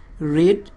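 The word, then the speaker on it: read: হচ্ছে the book is রিড এটা রিড উচ্চারণ হবে না যদিও একই রকম এটা past participle রেড বাই me book is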